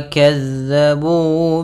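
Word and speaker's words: كَذَّبُوا: Innahum kanu la yarjuna hisaba wa kazzabu bi ayatina kizzaba. Pada bacaan wa kazzabu, hati-hati dalam melafalkan huruf zal yang dimana zal ini pelafalannya dari ujung lidah kita menempel dengan gigi sari atas kita.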